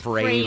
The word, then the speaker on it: Frehley: It's Ace Frehley, Frehley because yes. his side project was Frehley's Comet to rhyme with Haley's Comet, so that's how you can remember it.